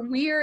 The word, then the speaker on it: Weir: a movie with Andy Weir. Matt Damon. Andy Weir. Him. Yep. Yeah. Or Weir, if it's like the Weir. Weird. It's spelled like the beginning of Weird.